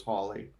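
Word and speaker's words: Halley: Well, actually, in his day, it would have been pronounced Hawley. Holly, yeah, A lot of Hallie. people typically say Hallie now, but the proper pronunciation was Hawley.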